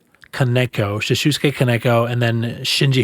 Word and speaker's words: Kaneko: the director Shusuke um How do you say his last name? Kaneko.